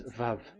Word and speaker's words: Vav: So the word, the shape Vav is really pronounced V, like Vogue.